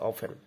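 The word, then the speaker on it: often: rainfall of causes flood উচ্চারণটা কিন্তু অফটেটন বলা যাবে না টিটা সাইলেন্ট থাকবে অফেন heavy rainfall অফেন causes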